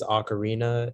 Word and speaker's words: ocarina: Yeah, so the only pronunciation is ocarina.